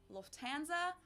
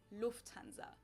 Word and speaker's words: Lufthansa: flown with them before in English people usually say Lufthansa but in German we say Lufthansa so the emphasis Lufthansa